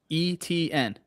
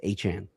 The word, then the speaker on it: Etienne: He literally he said that the the way you're supposed to pronounce his name is is Achan.